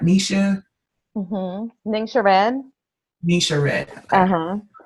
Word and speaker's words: Ningxia: Ningxia Red.